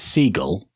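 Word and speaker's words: SeaGL: I never know how to pronounce this. Is it Seagull?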